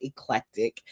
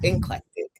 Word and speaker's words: eclectic: So, Cam Newton sparked a viral moment on his Funky Friday podcast after mispronouncing the word eclectic as inclectic.